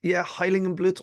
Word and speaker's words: Heiligenblut: Yeah, I think, Heiligenblut or Heiligenblut. I think you pronounced it pretty spot on there.